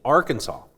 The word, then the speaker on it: Arkansas: So apparently, it's intended to reflect it's a French pronunciation of a word from the Sioux language. So maybe I need Okay. But anyway, Arkansas.